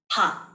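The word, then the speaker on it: 박: It's also a common one, very common one, and it's pronounced P-A-K, Park.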